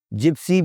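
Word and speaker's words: gypsy: जिप्सी बोलना है जीम के साथ।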